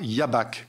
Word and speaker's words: Jabach: considérable, qui est en l'occurrence le fameux Évrard Jabach. Ça s'écrit J-A-B-A-C-H.